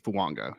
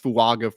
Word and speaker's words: Fuaga: offensive tackle 1 off the board is Talisi Fuanga out of Oregon State, which hilarious. I was calling him Talise Fuaga for like the longest time, and apparently I